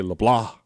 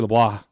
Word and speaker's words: LeBlanc: Hillyard, Blake Hester, Wesley Leblah. That's that's how Wesley says it should be pronounced, so I'm giving it a shot. Uh, Wesley Leblah LeBlanc.